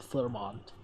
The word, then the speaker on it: Fleurmont: that's the reason why it's called Flurmont. It's quite easy to pronounce as well. It's um it's the anglicized pronunciation is quite easy to do.